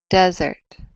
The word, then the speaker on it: desert: on the last syllable desert vs desert desert that's on the first syllable so you would definitely